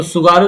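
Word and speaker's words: 津軽: Hokkaido और Honshu के बीच में जल संधि है कोई, उसका सुगारू नाम जल संधि।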